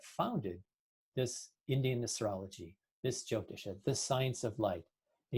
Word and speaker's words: Jyotish: The main point I want to make is that, Jyotisha, or Jyotish as it's pronounced in Hindi, is predicated, one of